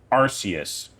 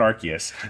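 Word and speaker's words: Arceus: Arus, not Archus. I think I get a lot. That's the thing. I I don't know all of them either. A lot of my pronunciations just come from me Googling things. No, that's fine. Bulipedia, but I'm pretty sure Arus is the correct pronunciation, but I've only ever read it, so I always pronounce it Archus.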